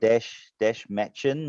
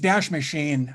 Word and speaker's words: Dash Machine: Dash Matchin and Dash Matchin. No idea how to pronounce that. It's Dash Machine.